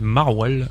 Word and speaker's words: MRWL: Et puis bah si on peut aller chercher quelques trucs, on peut citer un petit groupe du nord qui s'appelle Marwal. Ça s'écrit MRWL et c'est le groupe qu'on a qu'on a un des deux groupes qu'on a sélectionné au tremplin.